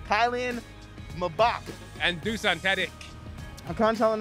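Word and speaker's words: Kylian Mbappé: and that was americans explained soccer apparently it's pronounced kylian mabak and dusan teddik i'm telling nago we're sorry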